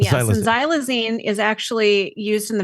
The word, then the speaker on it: xylazine: as Tran uh how was how do you pronounce this zy xylazine it is xylazine yes xylazine is actually used in the veterinary World quite